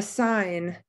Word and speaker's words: sign: only choice silent h a sign we don't hear that g knowledge we don't hear